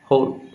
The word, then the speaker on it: Wohl: तमर अच्छी होल degradation होल माने WHOL नुह WOHL होल होल इंग्लिश रे जो